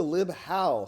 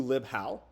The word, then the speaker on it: libhal: welcome to lib how say goodbye to lib embedded howe that three syllable lib embedded so embedded that's three more how sounds like five syllables welcome to lib how two syllables easy short to the point um why the